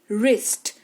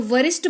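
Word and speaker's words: wrist: डब्ल्यू के तुरंत बाद आर आ जाए तो डब्ल्यू का उच्चारण नहीं किया जाता। यानी कि डब्ल्यू जो है वो साइलेंट रहता है। जैसे कि रिस्ट।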